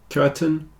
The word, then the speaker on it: curtain: continue curtain and certain the AI sounds a bit like e in these two words curtain certain the reason is the stress is on the first syllable so the second syllable tends to get contracted down a bit and in this case it's a little bit like an e curtain certon whereas these